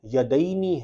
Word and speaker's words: یدینی: پہ عینی ہے رافع یدینی، ہم ہمارے اپنے تلفظ میں یدین کہہ دیتے ہیں، یدین کوئی لفظ نہیں ہوتا، یدینی ہے، والدینی ہے، ہم